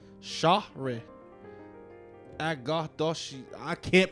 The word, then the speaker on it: Shohreh: Shohore. Shahre. Agadoshi. I can't pronounce that. It's Shohreh.